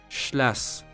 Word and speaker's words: schlass: Again, I'm showing you a word, read it, listen to its pronunciation, and repeat after 3 times. Are you ready? First word, schlass, which is a slang for knife.